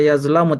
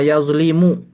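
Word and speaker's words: يَظْلِمُ: Yang benar bukan zalama yazlamu tapi dolama yazlimu.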